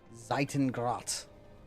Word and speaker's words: Zeitengrat: So I actually put together that the pronunciation for the Zeitengrat, the bow, is that because I looked at the katakana pronunciation of it, and I saw that, and I was like, oh, that word's German.